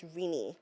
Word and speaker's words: Rinny: But you said we can actually address you as Rini.